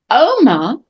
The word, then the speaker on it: Oma: But notice, be careful, Oma, the accent is on the O, not on the A.